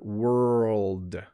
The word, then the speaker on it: world: The RLD is very challenging to pronounce. You're making 2 different sounds really close to each other. World, world. So it starts with wr, but it ends with world, ld, ld.